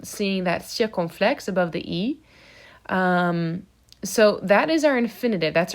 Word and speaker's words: es: Same thing for tu es, the S is silent.